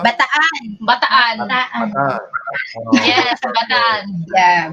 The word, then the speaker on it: Bataan: How do you pronounce that, ladies? Bataan? Bataan.